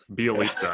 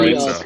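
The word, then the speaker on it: Bjelica: Bielitsa, I think is how you pronounce it. Yeah. Bielitsa, that's it. Yeah.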